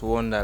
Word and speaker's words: 1Da: But it's like Wonda's a figure Da. That's 1Da Banton, but it's still pronounced as Wonder, like Wonder.